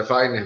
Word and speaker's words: Wayner: Eu escutei Ramon chamar o Energy Weiner, a pronúncia certa do seu nome como é? É Weiner mesmo. Weiner, perdão, achei você com a versão estadunidense, desculpa.